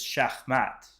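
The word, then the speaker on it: שחמט: The way to say chess in Hebrew is shakat, which is like very close to your username.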